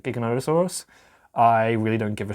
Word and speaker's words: Giganotosaurus: You're supposed to say it Giganotosaurus, even though a lot of people pronounce it Giganotosaurus.